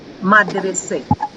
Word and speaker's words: মাদ্রাসে: যদি হয় সেটা হচ্ছে মাদ্রাসে মাদ্রাসা। আমরা কি বলি, বাংলায় কি বলা হয়? মাদ্রাসা, তাই না? মাদ্রাসা। যেখানে ধর্মীয় বা দ্বীনি পরীক্ষা, দ্বীনি পড়াশোনা। কিন্তু ফার্সিতে মাদ্রাসে উচ্চারণটা কি হচ্ছে? মাদ্রাসে।